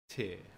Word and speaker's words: Tyr: Tyre, tear. No, it's T, bro. It's T. It's pronounced like in God of War. It's tear.